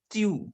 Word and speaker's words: tu: So if you have an informal you in French, that we called as tu.